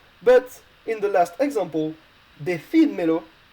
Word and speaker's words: decídmelo: But in the last example, decídmelo, you have two pronouns at the end, so basically you will need a written accent on the I in order to keep the logical stress.